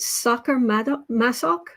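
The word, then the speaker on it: Sacher-Masoch: The other thing, and correct me on the pronunciation. Is it Sacher Masoch?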